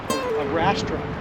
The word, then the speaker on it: arrastra: Arrastra? Arrastra. Arrastra.